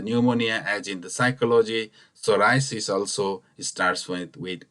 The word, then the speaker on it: psoriasis: to get completely healed psoriasis pronounced or in a little bit differently the pronunciation is called psoriasis the P this word remains silenced here it's like in the psychology which he starts from